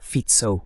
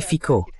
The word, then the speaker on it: Fico: Et bien oui, bien sûr, il y a FCO. D'ailleurs, c'est comme ça que ça se prononce. Ce n'est pas Fitzo ou quelque chose comme ça, c'est Fico avec un faux accent de la BBC.